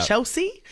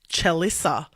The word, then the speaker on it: Chelsea: Chelsea. Well, every time she goes there, they write it correctly on the cup, but they pronounce it Chelissa.